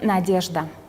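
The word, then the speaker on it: Надежда: A ver, es la palabra en ruso, aquí está escrito en cirílico, y se pronuncia Nadezhda, y significa esperanza.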